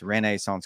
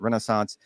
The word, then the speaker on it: Renaissance: out to me that the way I say that is weird and I 100% agree that's the way they want their name pronounced renissance Club it's not Renaissance the way the Americans do it just to be clear